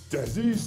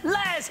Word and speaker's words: Les: It's Desi's Tasty Challenge! You've got my name wrong again! You know my name, don't you, teams? Yes! See? Yes, Les! It's Les, okay?